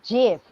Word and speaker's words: GIF: like it's graphical interface so it's gift and i'm like the person who invented it said jiff um i was watching this youtube video great big story the guy who does the pronunciation in the national spelling bee and he was given the jeff gift card and he goes it's gif yeah that's a good